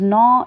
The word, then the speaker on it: gnaw: So the first one is gnaw. G is silent.